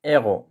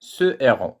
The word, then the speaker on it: héros: ما نقدرش نقول set héros واخا عندي H في البداية ديال الكلمة héros كندير ce héros لأنها ما كتقبلش la liaison. ما نقدرش نقول set héros ولا les héros.